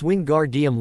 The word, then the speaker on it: Wingardium: Wingardium Leviosa, he shouted, waving his arms around. You're saying it wrong. Hermione finally snapped hotily. It's Wingardium Levi Osa. Make the gar nice and long.